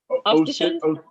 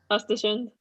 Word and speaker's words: Östersund: Ostersund? Östersund. Okay, that's the correct pronunciation.